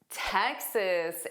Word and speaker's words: Texas: Houston is the city and Texas is the state. So notice that first sound is exactly like tech, high tech, the tech industry.